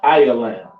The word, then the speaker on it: Elam: of that all right next we have Elam all right which is a so-called East Indians pronounced ayalam to read about them